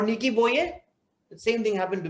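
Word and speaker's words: Nikki Boje: like i'll tell you do you remember hansi crunch or nikki boge sorry sorry it's hansi cronier or nikki boyer the same thing happened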